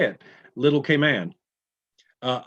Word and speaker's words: Cayman: little k man uh i've always heard that commercial the k man islands no it's grand cayman little k man and then if it's in the beginning as an adjective you can say cayman cayman brac and cayman islands but it's never munn ever and i didn't know